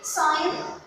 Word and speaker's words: sign: Sign. Sign. Sign it means to give your signature اللي هي التوقيع يوقع. letter G is silent.